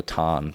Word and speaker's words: tarn: And it's called a tarn, pronounced a tan.